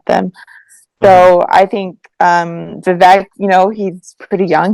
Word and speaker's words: Vivek: I don't know if I pronounced it. Vivek. Vivek.